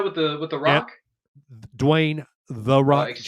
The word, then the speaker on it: Dwayne: johnson excuse me sorry wayne i know you watch our program so i'm just saying oh let me let me i'm sorry you didn't say it right it's dwayne the rock johnson future president dwayne johnson